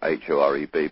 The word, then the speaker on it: Horeb: o re B and the C was silent so in english translation that it became hor EB but it was pronounced Horeb spelled tribe and in